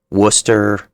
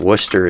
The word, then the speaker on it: Worcester: We're going to just use the town because I want to mark Worcester, Hartford, and New Haven.